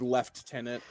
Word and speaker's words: lieutenant: okay be British and the Canadians pronounce that word left tenant the yeah is British